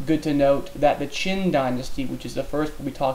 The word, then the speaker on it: Qin: I know it looks like Quinn, but it's pronounced Qin.